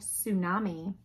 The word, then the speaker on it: tsunami: imaginary Isle of new Arkansas t is for tsunami the charging tsunami washed away all of Tchaikovsky's